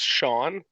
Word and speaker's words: Sean: I would say also it's pronounced Sean, just to help you.